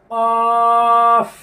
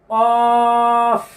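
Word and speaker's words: ق: এই যে দেখেন কফ কণ্ঠনালী থেকে বের হতে হবে কণ্ঠনালী থেকে গলা থেকে বের হতে হবে আলা জিহ্বা আছে না আমাদের জিহ্বার গোড়া জিহ্বার গোড়া তার বরাবর উপরের তালুর সঙ্গে লাগিয়ে এই একটি হরফে উচ্চারিত হয় কোনভাবে যেন এরকম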